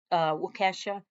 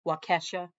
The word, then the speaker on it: Waukesha: Waukesha. I'll say it like that because it's Kesha and, Kesha with the dollar sign.